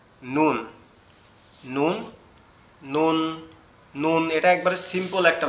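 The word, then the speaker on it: ن: নুন, নুন অক্ষরটা সম্পূর্ণ আমাদের জিহ্বার আগা উপরের তালুর সঙ্গে লাগবে। জিহ্বার আগা উপরের তালুর সঙ্গে লাগবে, লেগে উচ্চারিত হবে নুন। নুন, নুন, নুন।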